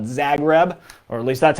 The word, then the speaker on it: Zagreb: but this is one of my favorite called zagreb or at least that's how i've always pronounced it z-a-g-r-e-b so i can show you